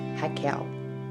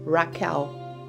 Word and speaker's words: Raquel: My name is pronounced Raquel. It's not Raquel, Rachel, or another name.